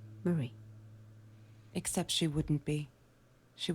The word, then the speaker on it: Marie: do get to Marie Marie I've been saying Mary Jesus Kevin I can't pronounce names either Marie that's her name Murray's journal how KLCC